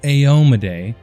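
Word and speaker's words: Iomedae: put this to bed it is pronounced ayomaday and that is coming straight from eric mona and the campaign setting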